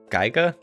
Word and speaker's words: Giga: Um, I know what is it, Geiga. Giga, how you pronounce it? The creators of Boulder Gigas. Giga. Yeah. Of Baler Sky.